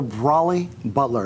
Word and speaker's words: Brolly Butler: Rob Stallings is here, and he's going to be telling us about the Brolly Butler. Is that how I pronounce it?